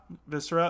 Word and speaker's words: Viscera: really haven't played but i think it's pronounced the visera cleanup duty um where you're kind of yeah viscera okay and you're like cleaning